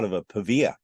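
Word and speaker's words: Pavia: which is not far away yeah no not paa pava which is very close to be J both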